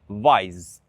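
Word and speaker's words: vajzë: So for example, girl, vajz, vajz. We don't pronounce the E.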